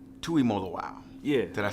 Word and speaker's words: Tuimoloau: Full name is Jalen Tuimoloau. Tuimoloau.